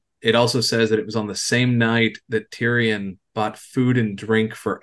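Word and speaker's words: Tirian: It's spelled T-I-R-I-A-N. There's not a single Y in it. Yeah, for anyone keeping notes, Co is spelled Q-A-O. Tyrion Quo.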